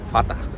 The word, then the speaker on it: Vater: La R en alemán suena como A. Por ejemplo, Mutter se pronuncia Mutter. Vater se pronuncia Fata.